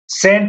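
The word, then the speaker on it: scent: अब बात करते हैं हम लोग सेंट है। सेंट में यहाँ पर आपको देखना है कि एस के बाद आपका सी है, तो यहाँ पर भी आपका ये आपका सी साइलेंट है।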